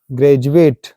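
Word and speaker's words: graduate: यू आर आया है ई यू are Granger ग्रेजुएट अक्सर हम बोलते हैं आर यू ग्रेजुएट यस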